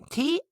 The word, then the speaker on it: thought: T-H-O-U-G-H-T is pronounced thought. The TH is unvoiced. Thought, and it rhymes with caught.